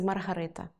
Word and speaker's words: Маргарита: Але крім тіста, у піци «Маргарита» є ще й начинка (наголос на перше а).